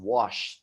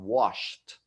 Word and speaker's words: washed: If it ends with the SH, the CH, or the X, it's going to be a D sound, washed, or sorry, the T sound, washed, right? Washed, watched. So you're not going to say the D sound like in murmured. You're going to say a T sound at the end as in wash.